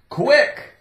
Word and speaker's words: quick: it likes you lick quick Q you sounds like quick quick quick quick quick quick quick quick could be quarter could be quiet quick i c k c is silent I I okay we